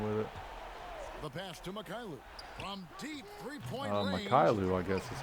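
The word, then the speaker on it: Mykhailiuk: can do anything with it the pass to makailu from deep three points is how you pronounce it and then plumley with the loose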